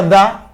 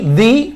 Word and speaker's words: the: deben conocer es que se pronuncia da cuando el sonido que le sigue es consonante por ejemplo como aquí y aquí Di cuando es con vocal Apple elephone Orange eso eso es lo más